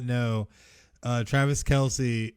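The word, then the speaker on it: Kelce: not know uh travis kelsey his last name is not pronounced kelsey it's just kels what yes but he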